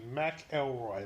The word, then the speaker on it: McElroy: elroy sorry yes i'm saying mack elroy that's how toad is pronounced okay got it okay